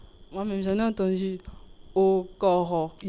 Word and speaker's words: Okoro: Quelle est la bonne prononciation du titre du film ? Le titre du film ? Ouais. Au coro. Pardon ? Au coro. Au cor exactement. Ah, c'est pas comme ce que les gens disent souvent.